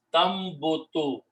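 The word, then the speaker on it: تنبت: Now in the tajweed and recitation, when ta and noon come together, instead of pronouncing the noon, we pronounce it a meme. That is the recitation, the tajweed. So the final word is tamboto.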